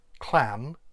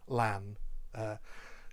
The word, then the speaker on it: Llan: not a welsh speaker a lot of people will try to pronounce that clan because they think that's closer to clan but generally speaking it's actually better if you can't quite get that to pronounce it as a double l uh in english and just say lan generally well speakers will